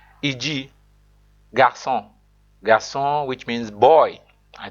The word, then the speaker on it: garçon: It changes a hard C like K into a soft C sound like S, e.g. garçon.